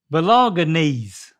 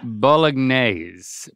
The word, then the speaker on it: Bolognese: Belonganese. Oh, that's pretty good. Say it again. Belonganese. Belonganese. Well, there's no N after the O, or it's G. Belonganese. Belonganese. Yep. But after the G, it's the N.